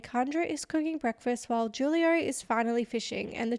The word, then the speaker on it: Julio: his name Julio Julio no it's Julio I triple double check this cuz I've heard different people say different things but it's definitely Julio yeah straight from yeah